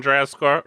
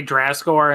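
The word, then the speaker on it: Drazcore: Dracore. Dracor. Yeah, it's like draz d r a z and then the word score.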